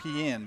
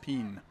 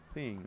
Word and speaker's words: Pien: We've been saying Pien, but it's just Pien. Ping, okay.